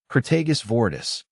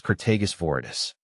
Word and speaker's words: Crataegus viridis: Crataegus viridis, green hawthorn.